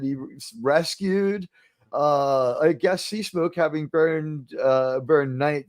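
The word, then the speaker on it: Seasmoke: Master Jimmy Walker impla you to pronounce it correctly it's light SE smoke uh SE smoke burning that guy was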